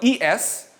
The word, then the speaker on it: es: It's spelled E-S, but it sounds like the letter S.